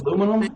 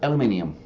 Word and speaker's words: aluminum: twice as good as aluminum there yeah you'll figure it out aluminum aluminum all right oh you yeah no wonder it's so long the American pronunciation the other the British pronunciation bingo there you go